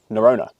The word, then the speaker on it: Norrøna: for a little while now and that is neurona and that is how you pronounce it right yeah simple as that narona some of their other names might be a